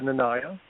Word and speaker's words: Nanaya: There is no formal pronunciation, but I typically go with Nanaya.